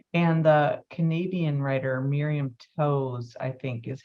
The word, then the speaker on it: Toews: And the Canadian writer Miriam Toews, I think is how you say her name.